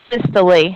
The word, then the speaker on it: systole: want to but you just usually hear it pronounced systole and diastole I would never correct you if you said systole or diastole I just want you to know